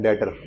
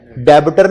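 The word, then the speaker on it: debtor: डेटर। Business ने किसी को चीजें उधार पे बेची, ये क्या है? डेटर। ये क्या है? डेबिटर नहीं पढ़ना, बड़े हो जाओ। ठीक है, डेटर है। ठीक है, बी साइलेंट।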